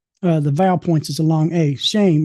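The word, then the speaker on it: שֵׁם: it as shm, but it has a long a sound. Actually, it's a it's uh the vow points is a long a shame.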